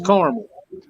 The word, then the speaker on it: caramel: well that's like caramel and caramel no it's caramel well let me tell you i always did